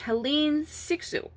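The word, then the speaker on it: Hélène Cixous: in 1975 feminist theorist helene sixu i believe is how you pronounce her name she wrote the laugh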